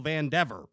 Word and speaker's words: Vandever: My family's always said Vandever. Vandever.